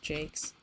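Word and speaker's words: Jacques: Like, I read a lot of the Redwall books by Brian Jakes. He pronounced it Jakes.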